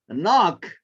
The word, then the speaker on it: knock: Knock, okay, what is silence? Is knock. K, okay.